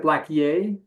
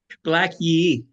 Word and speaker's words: Yé'ii: That's interesting because in your book, Black Yay, do you pronounce it Black Yay? Black Yé'ii.